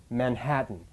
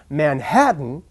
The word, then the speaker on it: Manhattan: If the French person were to remember to put the stress in the right place and pronounce Manhattan, Manhattan, instead of Manhattan, Manhattan, where the rhythm is stressed on the last syllable, the native would understand them.